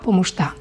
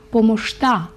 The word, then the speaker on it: помощта: Благодаря за помощта. До речі, ось ця буква «ща» в болгарській мові вимовляється як «шт». Благодаря за помощта.